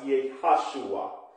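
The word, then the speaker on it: יהושע: Joshua, okay, in the Hebrew, the J is Y, okay, because there is no J in the Hebrew language, okay, so wherever you see the J, you substitute Y there for the Hebrew language, it is pronounced Yehoshua, and some say Yeshua.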